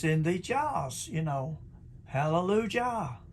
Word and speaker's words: Hallelujah: we know finally know the sound of of the jh in hallelujah as hallelujah it's got here which is halleluj the yh is pronounced yeah because that's what it is in the hebrew there the sound the same